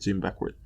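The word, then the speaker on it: Jim Beckwourth: Yeah, that's how you pronounce it, Jim Beckworth.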